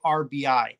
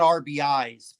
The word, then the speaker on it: RBI: And I did say RBI. It's not RBIs, people. It's RBI. 10 RBI.